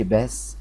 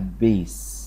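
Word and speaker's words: base: بس الايه ديت ما تبقاش ما تتقال ما تتقالش باس، لا تتقال بيس. بيس بيس يعني الايه اللي ورا وراها ايه تتنطق برضو ايه ايه، فالكلمة اسمها بيس مش باس كده، لا بيس بيس.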